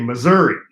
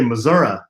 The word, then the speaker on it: Missouri: I'm from Missouri and we say Missouri with a long e I guess some people say Missouri but we judge them well of the podcast